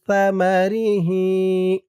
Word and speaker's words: ثمره: হরফ থা কুলু মিং সামারিহি সা মা সার উচ্চারণটা কিন্তু নরম হবে সামা রি হি হি